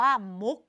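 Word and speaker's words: มุข: อุ ขอ มุก มุก เรา ก็ อ่าน เหมือน กับ มี ตัว ก เป็น ตัว สะกด นั่น แหละ ค่ะ เด็ก ๆ มุก และ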